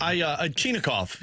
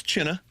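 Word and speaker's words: Chinakhov: Chinikov. You did China. It's China.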